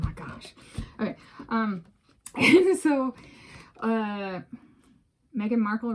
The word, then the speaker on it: Meghan Markle: And so, Meghan Markle rhymes with sparkle.